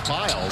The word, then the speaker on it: Bile: Louisiana for Mike McConaughey, he was known as Bile. His name is spelled B-I-L-E. Young man decides when he went to Georgetown that he would go by it's a little more the name Ballet.